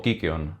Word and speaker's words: kykeon: tomaban los héroes griegos llamada cicón o kikon si seguimos la pronunciación griega nos cuenta Homero en